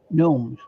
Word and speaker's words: gnomes: Gnomes. Gnomes. I will have to practice saying that, because we know. No. Right, we don't pronounce the G, so it's gnomes.